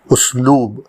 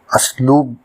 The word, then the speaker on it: اسلوب: میں حاضر ہے، اور ہمارا آج کا لفظ ہے اسلوب، جو درست ہے۔ کچھ لوگ اسلوب کہتے ہیں جو غلط ہے۔ اس کے معنی ہیں